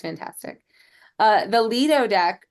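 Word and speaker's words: Lido: you know it's great it's fantastic uh the Leo deck spelled l i d o but pronounced Leo that's the deck where the B pool is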